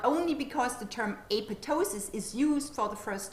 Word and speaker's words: apoptosis: They recommend that the second P is a silent P and that you say apoptosis rather than apoptosis.